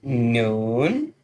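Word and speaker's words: نون: And the next one is noon, noon. A kind of sound like a moon.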